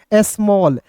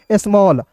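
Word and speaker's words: small: इसको क्या बताया कि ए डबल एल को क्या पढ़ते हैं, ऑल के रूप में उच्चारण करते हैं। तो इसका उच्चारण दोस्तों ऑल के रूप में करेंगे तो क्या हो जाएगा दोस्तों, स्मॉल।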